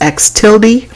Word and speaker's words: x tilde: little uh curly symbol on top that is pronounced x tilde more commonly though we either see the capital